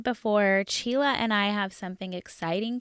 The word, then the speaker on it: Csilla: you I was like calling you Sheila but it's Sheila yeah yes yeah it's close to Sheila but with a CH sound yeah I've been called